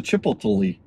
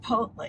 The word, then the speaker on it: Chipotle: There's a Chipotle. No, thank you. How do you say that? Chipotle.